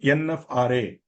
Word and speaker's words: NFRA: appointment you have to I am pronouncing nafra so don't please don't think that there is an there's a vowel in between I'm only pronouncing it as nafra if you don't want that if you don't like that you can continue to call it nfra nf okay you can it's your choice I'm using nafra but